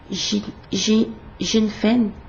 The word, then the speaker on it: Jinfeng: Pour la marque Jinfeng, comme ça se prononce avec un J devant et un N à la fin.